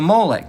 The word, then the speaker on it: Molech: It's pronounced Molech.